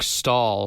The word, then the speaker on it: Staal: Truck Stall. Stall spelled like Eric Stahl. Oh, Staal? Yeah.